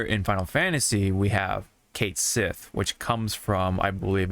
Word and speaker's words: Cait Sith: Final Fantasy 7 rebirth K Sith is pronounced Kate Sith you know like uh the name Kate and Sith right and that did not